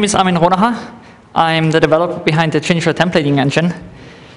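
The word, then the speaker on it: Armin Ronacher: Armin Ronham, right? Ronaha. Ronaha. Armin Ronaha.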